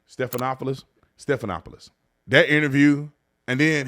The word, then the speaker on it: Stephanopoulos: I think that's how you say his name Stephanopoulos Stephanopoulos that interview and then he's going around